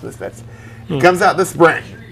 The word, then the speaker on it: MSFTS: MSFTS. Pronounced Misfits.